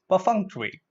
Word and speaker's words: perfunctory: it per functionary now let's look at the syllable break up yeah look at the zero / Fung Chui / Fung Chui perfunctory okay it's LS eight with me Co Fung